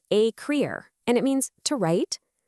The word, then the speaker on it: écrire: That's pronounced écrire, and it means to write.